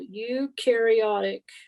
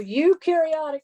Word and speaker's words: eukaryotic: therefore they are called eukaryotic cells they're going to throw that at you so eukaryotic cells have membrane-bound organelles okay now remember this trick you carry o u rhymes with okay so you do have